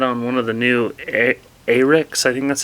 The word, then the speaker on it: Ahrex: Today we're going to tie a Red Brassie, and we're going to tie it on one of the new Ahrex, I think that's how you say it, A-H-R-E-X jig hooks.